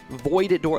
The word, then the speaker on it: Voidora: Voidora, like the void, like you're entering the void.